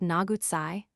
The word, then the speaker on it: Nagutsai: The modern name is pronounced Nagutsai by the Cherokee, who say, however, that it is not of their language.